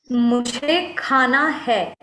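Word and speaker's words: मुझे खाना है: The correct pronunciation is mujhe khana hai.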